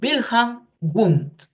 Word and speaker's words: Wilhelm Wundt: Claro, normalmente se escribe Wilhelm Wundt, se pronuncia Wilhelm Wundt.